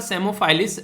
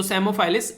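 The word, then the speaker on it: Psammophilus: तो P silent है यहाँ पर, तो सेमोफाइलिस और डोरसैलिस, तो ये इसका नाम है जो कि पी साइलेंट है, पी नहीं बोला जाएगा।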